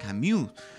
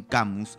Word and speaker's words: Camus: lo opinable por ejemplo cuando decimos albert camus que en francés debería ser albert camus pero por el contrario se nos hace más común emplear el albert en inglés y un campus hispano que definitivamente suena muy distinto el original de ellos